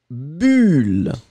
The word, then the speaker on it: bulle: Et le deuxième, eh bien, vous allez le prononcer comme un u. Bulle, d'accord?